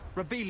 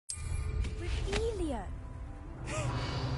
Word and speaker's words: Revelio: Revelius. You're saying it wrong. Revelia. Much better.